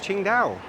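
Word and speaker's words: Tsingtao: It's on all the bottles of Ching Dao. That temple. Ah, proving even furthermore, this is the birthplace of Ching Dao, even though it's spelled completely different.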